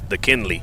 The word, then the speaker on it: Dakynleigh: DeKinley, I believe, is the name. Let me spell that for y'all. It's DAKYNLEIGH. That's DeKinley. That's what that is.